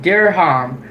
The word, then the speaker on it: dirham: This is how to pronounce the currency. Emirati deha. Okay. Emirati dirham.